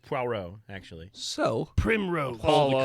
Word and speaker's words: Poirot: I think it's pronounced Poirot, actually.